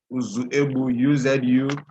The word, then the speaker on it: Uzuegbu: The spelling of my name is not UZUGBU. It's rather Uzuebu, UZUEGBU. I know it's just a problem of pronunciation.